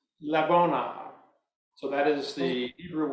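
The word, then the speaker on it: לבונה: So it is pronounced labona.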